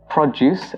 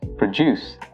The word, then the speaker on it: produce: The next word is produce and produce. If you're using the noun form of this word, you pronounce it as produce.